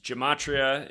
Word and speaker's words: Gematria: website it's Gematria effect.news Gematria is spelled like Jim g-e-m and then a t r i a Gematria effect with